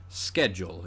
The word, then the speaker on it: schedule: And typically speaking, a lot of Greek loanwords that begin with SCH, like the word school, are pronounced sk. Schedule in this case, whereas it's words like schmaltz that came from German that get that kind of sh sound.